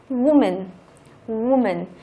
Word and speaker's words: woman: Woman. Đó, chữ O ở đây lại không đọc là âm Á nữa mà đọc là âm U.